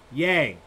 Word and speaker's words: Ye: topic but not trivia the correct answer is yay kanye yee yay well you know now